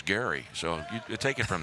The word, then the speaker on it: Gerry: it looks like g-e-r-r-y it looks like gerrymandering but the gentleman for whom it is named his last name was gary so you take it